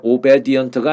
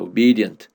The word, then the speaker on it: obedient: 이것도 발음 조심하셔야 돼요. obedient가 아니고 obedient입니다. obedient.